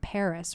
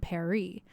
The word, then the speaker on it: Paris: netflix tweeted friendly reminder emily in paris is supposed to be pronounced with a french accent so emily and paris rhyme so it should be emily and perry but everyone's in america like we're gonna say paris yeah i'm not gonna